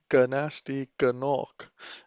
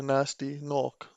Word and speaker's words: Gnasty Gnorc: so then we have the pronunciation of the name ger nasty Kanak instead of a nasty knock but I suppose it